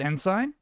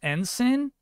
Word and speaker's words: ensign: capture I always turn it off I said enzyme did I not Chad I feel like you're